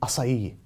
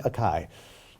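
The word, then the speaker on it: açaí: a kale Caesar next up we have the acai bowl as I'm just learning is how it's pronounced because I've been saying acai I've never eaten us ie ever I know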